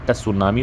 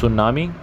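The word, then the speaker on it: tsunami: T silent होता है इसमें, बहुत सारे लोग इसको सुनामी पढ़ते हैं, which is the wrong pronunciation. It's सुनामी।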